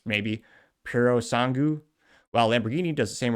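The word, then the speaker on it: Purosangue: Ferrari puts a naturally aspirated 6.5-liter unit in its 12-cylinder array, and Porpoise, kidding, it's pronounced maybe Puro Sangu, while Lamborghini does the same with their Volto.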